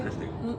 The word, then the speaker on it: Christina: That's how to say it. Like, Christina.